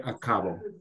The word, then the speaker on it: acabo: So the other thing, Manish, say acabo. Acabo. So hear the difference between acabo and acabo. Acabo. Acabo. Acabo. Okay, acabo. In Spanish, the second to the last syllable, the penultimate syllable, is normally emphasized.